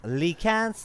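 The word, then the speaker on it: Lycan: house which is interesting lee cans lee cans this is how you pronounce it i'm confused you cannot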